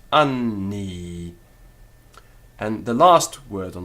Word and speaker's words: anni: Now, we don't necessarily have to break it, anni. A Roman would not have done that. But what you would do is find a definite weighting of that n to both syllables, anni.